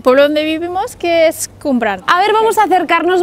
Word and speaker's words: Cwmbran: Estamos en el pueblo donde vivimos, que es Cumbran. A ver, vamos a acercarnos, Mónica. ¿Cómo has dicho que se pronuncia el nombre de este sitio? Se pronuncia Cumbran.